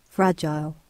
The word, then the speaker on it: fragile: I haven't heard of fre. I've only ever heard of fra.